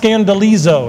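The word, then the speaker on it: σκανδαλίζω: is the Greek word and it's pronounced scandalizo. That's the Greek, if you could read Greek, that's how you'd pronounce that right there.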